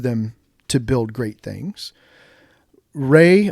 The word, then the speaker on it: Ra: Rey or I've heard other people pronounce it ra was the sun god.